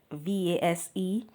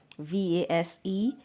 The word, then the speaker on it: vase: All right, so today we are learning how to pronounce this word VASE. VASE. British English, it's vase. Vase. Vase of flowers. In America, it is vase or vase.